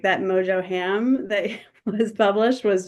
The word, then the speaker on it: mojo: is definitely you're marinating that ham in the mojo and roasting it really nicely.